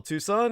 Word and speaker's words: Tucson: comom uh spell Tucson as you would tuxen TS o n and uh that's pronounced Tucson put the word the in front of it the Tucson murders.